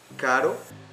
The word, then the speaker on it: caro: So the pronunciation is a little bit different, and it's important to know that. For example, caro is expensive, and carro, it's a car.